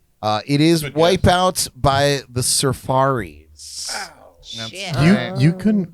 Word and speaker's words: Surfaris: It is Wipeout by the Surfaris. Shit. You couldn't pronounce Safaris? I still wouldn't get that. Jordan read it as Surfaris.